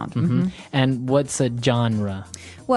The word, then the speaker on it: genre: We say genre. Genre or genre. It kind of sounds French.